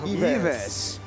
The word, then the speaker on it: Yves: I mean, Filipinos pronounce it as Ives. So. Yves. But I think that the right pronunciation is actually Yves.